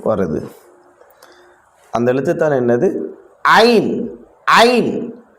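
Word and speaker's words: ع: அந்த எழுத்துதான் என்னது ஐன் ஐன் நடுத்தொண்டையால சொல்லணும் இந்த எழுத்தை ஐன் ஐன் ஐன் ஐன்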